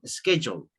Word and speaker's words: schedule: That one, and it's a schedule, the pronunciation, schedule. Schedule. Schedule. Schedule. Yes, schedule, okay? There you go. Okay, como que dijera Jule.